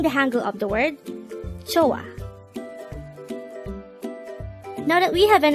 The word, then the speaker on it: 좋아: Joh-A. Joh-A. This is pronounced as a two-syllable word. The first syllable is jo, the second syllable is a. Pronounce it with me. Joh-A. Joh-A.